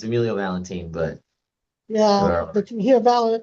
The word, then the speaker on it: Valentin: Yeah, it's Emilio Valentine, but Yeah, but you hear yeah. Without that E on it, we tend to want to pronounce it differently.